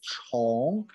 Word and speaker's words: 虫: category chinese people regard all the animals we pronounce it is a chong worm so we use the chong to distinguish